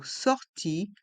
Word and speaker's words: sortie: dan correspondance et dans le mot sortie le E est mué sorti la correspondance la